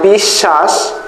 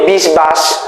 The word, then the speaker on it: বিশ্বাস: double উচ্চারণ করতে হয় দেখেন বিশ্বাস এখানে কিন্তু বয় উচ্চারণ করে না আমরা কি বলি বিশবাস আমরা কি বলি বিশবাস না আমরা বলি কি বিশ্বাস তারানে তা উচ্চারণ কি হয়ে গেছে ডাবল উচ্চারণ হচ্ছে এবং এখানে প্রত্যেকটা কি